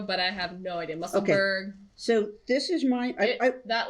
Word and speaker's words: Musselburgh: It's still the muscle burrow hat, so go for it.